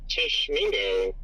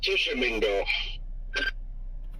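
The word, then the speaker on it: Tishomingo: I guess we do have a tiny little area of rotation near Tishmingo. That is uh Tishamingo.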